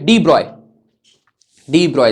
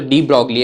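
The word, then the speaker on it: de Broglie: तो 1924 में एक फिजिसिस्ट हुए डी ब्रॉय, सर ये तो डी ब्रॉगली है, प्रोनाउंस इसको डी ब्रॉय किया जाता है, BROY, डी ब्रॉय, BROY, ये प्रोनाउंसिएशन ऐसे किया जाता है।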